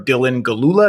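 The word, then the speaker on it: Dylan Gelula: an outstanding actress whose name i'm going to mispronounce so i don't even want to try out courtesy to her dylan galula is that right yes that's right it's perfect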